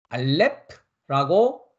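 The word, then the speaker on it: אלף: 무슨 얘기냐면 우리가 다시 알파벳 차트로 가서 보면 첫 번째 알파벳은 알렙라고 발음을 합니다.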